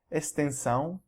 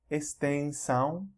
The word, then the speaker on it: extensão: You'll also see this suffix on many words that in English end with S-I-O-N or T-I-O-N, and they're pronounced as either zão or são. Examples here: extensão, extensão, tensão, missão, missão, divisão, divisão.